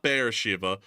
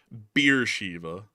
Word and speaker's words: Beersheba: Not Beersheba, Beersheba. Beersheba, is that like a Miller Lite or something? I guess. Like, I was like, I've never heard it called Beersheba. Maybe the pronunciation was different back then when they made the movie in the 60s, but it's Beersheba or Beersheba in the modern day, or Sheva from what I can tell.